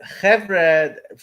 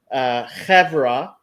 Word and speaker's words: חברה: No, so chevre it comes from a Yiddish pronunciation of chevra, right?